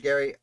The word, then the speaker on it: Gerry: of the united states now of all the things i discussed about elbridge gary i i i've been calling him jerry now because i said gerrymandering and that's what's in my mouth i understand it's pronounced